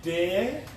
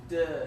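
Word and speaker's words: deux: And you're still saying it wrong. Part did. Is it de? I think it's duh. Is it duh? Yeah. Part duh.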